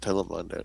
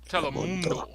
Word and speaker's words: Telemundo: You gotta say it right, Edmund. It's not Telemundo. It's Telemundo. Telemundo. Telemundo. Telemundo. Telemundo. And it's Telemundo. Una visión.